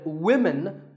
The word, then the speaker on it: women: But remember that we say woman for one woman and women for the plural. Women.